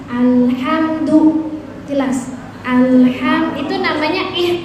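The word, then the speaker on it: الحمد: su sukun alhamdu hamdu ada mim ketemu dal itu namanya izhar syafawi jelas enggak boleh begini bacanya Bu alhamdu enggak boleh harus jelas alhamdu jelas alham itu nama namanya apa namanya?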